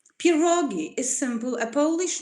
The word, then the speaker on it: pierogi: next slides this is how pierogis looked like pierogi is simple a polish name and this is plural for something that they are well known as pierogies if they are known and made by the